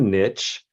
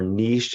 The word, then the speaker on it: niche: you get something that's too Niche or Niche if you like to pronounce it that way you end up with